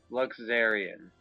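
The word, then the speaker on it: Luxerion: Okay, so it's a Z sound, not a sh. Okay. Luxurian.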